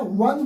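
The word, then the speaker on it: one: लिख रहे हैं वन वन का पहले यहां व जो है एक कंसोनेंट है और इसकी साउंड एक कंसोनेंट साउंड हो रही है इसलिए इसके पहले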